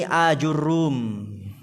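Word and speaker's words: آجُرُّوم: A jurrum bihamzatin maftuhatin mamdudatin dengan hamzah yang difathah a mamdudah yang dia ada madnya a fajimin madmumatin. Lalu jim yang di domah aju aju ya.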